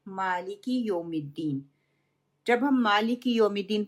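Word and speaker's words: مَالِكِ: उसकी जो ज़ेर है माले के, उसको मजहूल, ज़ेर को मजहूल कर देते हैं। सही प्रोनाउंसिएशन क्या है? मालिकी, लाम कसरा ली, काफ कसरा की, मालिकी।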